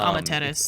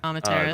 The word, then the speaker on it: Amaterasu: Yeah, dude, last night I had this match, and literally it's Amaterasu. That's it. Amaterasu. The Hollywood one, where you have to take the first point and then you escort the payload, right?